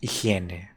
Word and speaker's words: higiene: Oh, and that word in Spanish is like this. It looks very similar, but it's pronounced in a very different way. It's higiene.